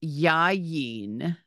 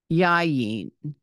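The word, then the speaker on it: יין: first word here is yayin yayin it has a double yud and a final nud and an a and an e sound yeah the second word is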